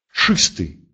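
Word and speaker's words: czysty: А вот в сочетании с буквой З он произносится как твердый Ч.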